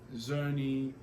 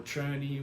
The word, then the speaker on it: Czerny: When you're practicing your fundamentals, whether you're doing Hanon or Zerny or Czerny, whichever way you want to pronounce it, one thing at a time.